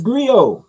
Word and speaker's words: griot: It's griot. T is silent.